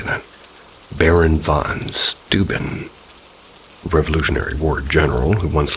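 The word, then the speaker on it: von Steuben: Another popular story is that the lanterns are carried by the Baron Vance. How do you say that? Baron von Stuben, Revolutionary War general who once lived in that area.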